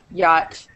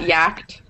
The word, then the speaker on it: yacht: so that does work hey yacht has silent CH it's not yakt yet um does anybody want